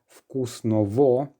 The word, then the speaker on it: вкусного: And just again to remind you, the letter G, very often when it's between two vowels, it will be pronounced as a V.